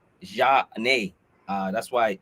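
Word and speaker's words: Zhané: there for flavor and it's a french pronounced pronunciation ja nay uh that's why it's johnny they from philadelphia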